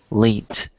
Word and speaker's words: leant: It's spelled lent. It's spelled like it's a weird word. I'm gonna write it for you. It's like this: L-E-A-N-T, lent.